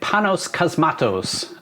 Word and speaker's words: Panos Cosmatos: this was directed by panos cosmatos which vince said sounds like a harry potter spell i think that's how it's pronounced i'm not entirely sure